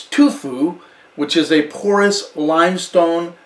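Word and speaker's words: tuffeau: grown on limestone soil and this is called tufu and it's spelled t-u-f-f-e-a-u but it's pronounced tufu and that is the soil composition where shannon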